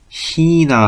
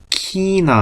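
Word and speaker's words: China: 있는다 그런데 요것도 마찬가지예요 원래는 히나 하고 있는게 맞지만 남부지방에서 어떻게 읽는다 키나 하고 있기도 한다 히나가 맞습니다 그런데 지방 다른 지방 사투로 키라고 읽는 경우도 있다라는 거 그렇게 알아두시면 되고 뜻은 중국이 자 얘는라고 했습니다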